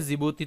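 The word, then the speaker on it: Djibouti: यहाँ जो दो कंट्री मैंने आप लोगों को यहाँ पर बताई है, एक तो हो गया जिबूती, तो यहाँ पर भी डी साइलेंट आप लोगों को देखने को मिलेगा, जिबूती इसको लिखा जाता है, ये एरिटेरिया।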